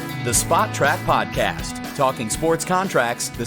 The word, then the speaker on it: Spotrac: hit a radio show so it's spot track according to us it's spo track or sport track or sports track or whatever